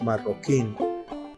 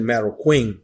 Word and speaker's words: Marroquin: our last name is Marin that's Diego you're hearing there that's we pronounce it in Spanish and it spells m